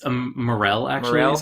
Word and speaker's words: morel: __ ] go ahead it is it's a morel actual rails how it's pronounced it's a mushroom okay yeah i knew